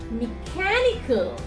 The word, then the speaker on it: mechanical: ending is there, we always stress the 3rd syllable from the right hand side. So it's electrical, electrical, electrical. Mechanical, mechanical.